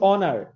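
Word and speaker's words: honour: হি ইজ অনার টু his profession, তিনি তার পেশার গৌরব।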